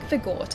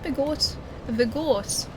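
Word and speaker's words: Vordt: The tea is supposed to be silent, but with the accent it gets pronounced. I like vagort. I think Vort just it's a nice way of saying it.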